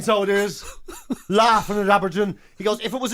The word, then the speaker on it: abrdn: ABRDN, that's the name. But not pronounced ABRDN, pronounced Aberdeen.